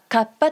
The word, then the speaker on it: 河童: 芥川龍之介作タッパどうかカッパと発音してください場これはある